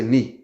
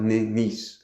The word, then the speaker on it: Nice: They just say ni. Yeah. Ni. It's not niece. or nice me. I can remember when I was a child looking on the atlas and I saw, oh, there's a a city called nice. Yeah, must be nice. N so that's how you say n.